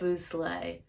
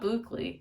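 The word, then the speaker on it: bouclé: Boo slay. It's not Bookly.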